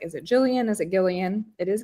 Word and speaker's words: Gillian: name um because I was like is it Jillian is it Gillian it is Gillian Flynn um and it's a mystery but it's